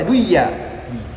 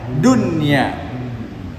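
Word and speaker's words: دنيا: kadunya seperti kata Dunya enggak boleh baca duya harus bacanya Dunya smma kemudian katawanin Tala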